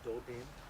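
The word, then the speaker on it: doodem: Now, you might see this spelled different ways. That's okay. Remember the way you say it, as I understand, is Dodin.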